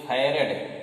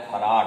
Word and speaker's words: farad: और दूसरी यूनिट क्या होती है, दूसरी बोलते हैं फैरेड, FARAD, ध्यान रखिए, लिखा है फराड, लेकिन पढ़ते क्या है फैरेड, है। फराड नहीं पढ़िएगा, कभी कभी एकदम शुद्ध